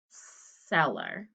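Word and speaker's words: cellar: you to check seller it sounds like s at the beginning but there is an e after it and it sounds like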